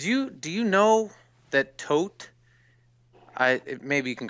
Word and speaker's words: Tod: sounds like the jury it's not spelled the same but it sounds the same way as if you say dead toad hmm so yeah it's the German words Tod there's other nice music